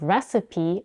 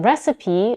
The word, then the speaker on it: recipe: letters are e in recipe or pronounced as re with a front middle vowel e as in the color red in recipe we have a schwa